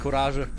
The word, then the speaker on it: Courage: That's the way you pronounce it in German because uh courage is also a word in German and it's pronounced kuraja.